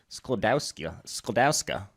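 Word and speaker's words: Skłodowska: And I want to hear you pronounce her original Polish last name. Go ahead. Oh, obviously it's Sklodowska.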